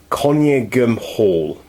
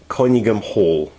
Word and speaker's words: Conyngham Hall: Its loco's number is 6937 and it's called, I'm probably going to mispronounce it horribly, Conyngham Hall. Conyngham Hall.